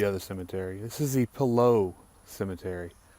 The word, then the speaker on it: Pillot: cemetery this is the Palo Cemetery kind of pronounced like pillow but it's below there French don't pronounce it Pilate because you'd be wrong there's a nice historical